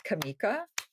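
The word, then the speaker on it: Kamica: a road that's not road is it it's actually not Road it's Kamika yep spelled with a c and uh it's great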